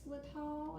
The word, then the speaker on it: xylitol: I don't know how you pronounce it. It's xylitol.